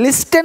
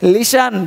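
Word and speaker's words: listen: to meet हेर इससे लिस्टन लिस्टन नहीं बोल से लिसन ध्यान सुनना सॉफ्टवेयर नहीं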